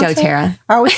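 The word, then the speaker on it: doTERRA: DōTERRA is how you pronounce DōTERRA.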